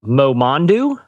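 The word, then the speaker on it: Momondo: Okay, so there's a travel company called, I think I'm pronouncing it right, Momondu.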